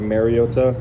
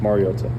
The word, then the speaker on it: Mariota: Um, I think it's been said over the years like Mariota. Um, which is incorrect. And it's pronounced Mariota.